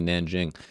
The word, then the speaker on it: Nanjing: It's I always heard it as king. That's what I always thought, but apparently Nanjing.